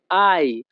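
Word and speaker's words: hai: হবে আই ফাত্তো Bene Italian ভাষাতে এইচ এ আই এর উচ্চারণ হবে আই ইতালিয়ান ভাষা আই ফাত্তো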